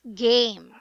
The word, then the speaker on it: game: So game is actually a long A. That should sound A. So it's game. It should be pronounced as game.